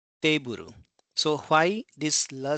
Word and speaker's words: teiburu: That means we have to elongate that syllable. So it's keiki. Similarly, table becomes teiburu, teiburu, teiburu.